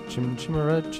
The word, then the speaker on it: Chimera: Chimera. I think both pronunciations are acceptable. Is it really? Some people do this, say that. Really? I've never heard Chimera before.